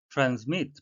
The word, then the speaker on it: transmit: transmit 발음에 유의하셔야 되는데요. S는 Z 발음이 나겠습니다.